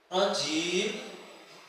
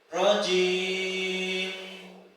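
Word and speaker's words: الرجيم: Yang terakhir rjim di situ ada mim sukun. Nah, mim sukun itu memiliki sifat gunah, mendengung. Maka ketika membaca rajib tidak kemudian gunahnya hilang seperti ini. Kebanyakan yang membaca Al-Qur'an itu seperti ini. Auzubillahiminasyaitanirrajim. gunahnya hilang yang benar nirjim rjim kelihatan nggih jadi di huruf mim tetap ada gunahnya sedikit tidak kemudian dihilangkan saya ulang auzubillahiminasyaitanirrajim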